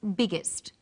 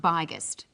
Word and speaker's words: biggest: extra G that's right the extra G tells us that the word is pronounced biggest and not byest what's another example hot